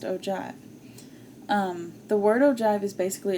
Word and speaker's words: ogive: known as an ogive now i know this looks like oh give but it is pronounced ogive the word ogive is